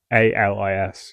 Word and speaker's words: Alis: Yeah, like Alice, but I just hadn't thought of it.